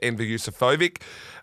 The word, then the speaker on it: Enver Yusufovic: Goes second up here for Enver Yusufovic. And Well Mickey D pronounced.